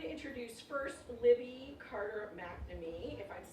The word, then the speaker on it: McNamee: So I'm going to introduce first Libby Carter McNamee. If I'm saying, that's okay. Perhaps McNamee? No, it's McNamee. On my second date, I pronounced it McNamee.